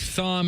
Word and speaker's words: Thom: Yeah, he's the only Tom who keeps the H from Thomas in there.